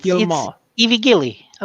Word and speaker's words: Guillemot: Yves Guillemot. No, it's Guillemot.